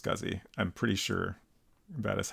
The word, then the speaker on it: SCSI: longer remember uh but is typically pronounced scuzzy I'm pretty sure that